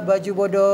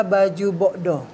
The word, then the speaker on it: baju bodo: iya oke baik ee baju bodo itu sendiri sebenarnya pengucapannya adalah baju bokdo bokdo baju boko itu